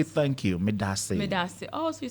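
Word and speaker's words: Medaase: Medase. Medase. Oh, so you say thank you after that? Yeah, Medase. Okay, so Medase. Akwaba means welcome. So okay, so Medase. Medase. Oh. Medase.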